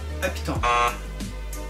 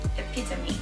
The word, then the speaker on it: epitome: Epitone. No. Epitone. Epitone. Epitone. Epitome.